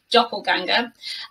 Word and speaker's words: doppelganger: it but we have the umlauts but it's pronounced doppelganger and a doppelganger is somebody who looks exactly